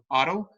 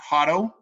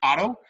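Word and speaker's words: Haro: foundation of the town Otto, not Hotto, not the H. H is silent, it's Otto.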